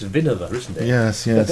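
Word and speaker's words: Winawer: Everyone calls it the winnower. I think it's Vinover, isn't it? Yes. But everyone calls it winnower.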